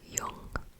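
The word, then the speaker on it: jung: like a v um J sounds like a y so for word right here can you see that I'm trying to see that word right there uh it's spelled j u n g or y n but you would say it Yung y so that means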